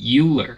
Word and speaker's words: Euler: to know is that Euler is actually not pronounced Euler it does not rhyme with Bueller Bueller instead it's pronounced Euler and it rhymes with spoiler Oiler and quaternions are